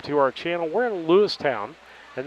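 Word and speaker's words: Lewistown: We're in Lewis Town and that's Lewis Town, not Lewis Ton. It's Lewis Town.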